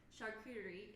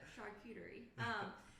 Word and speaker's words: charcuterie: Charcuterie is how you say it. Thanks, I didn't. Yeah, a lot of people have no idea how to say it. So charcuterie.